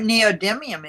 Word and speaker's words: neodymium: dim, not dime. It's neodymium Yeah.